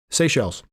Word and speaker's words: Seychelles: Am I pronouncing it right? Seychelles.